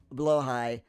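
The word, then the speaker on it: Blåhaj: Estana, it is pronounced blowh high and you want one. Blowhai.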